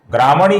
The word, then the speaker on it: ग्रामणी: ग्रामणी का जो विसर्ग है इसके आगे श्री का श आने के कारण विसर्ग का हल्का सा श उच्चारण होता है।